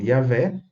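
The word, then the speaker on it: Yahweh: no caso nós temos a pronúncia sugerida e a vocalização yavé que está silabicamente dentro das regras da fonética do hebraico todavia é importante ter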